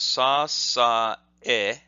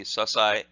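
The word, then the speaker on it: 支え: So the next technique is called sasae-ashi, and the first term is pronounced sa-sa-e, sa-sa-e, or quickly that would be sasai, sasai, and the kanji for that looks like this.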